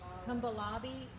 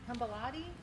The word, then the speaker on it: Kapalabhati: And if you don't feel comfortable doing it here, it's called Let me make sure I'm pronouncing it right. Kambalati Kapalabhati breathing.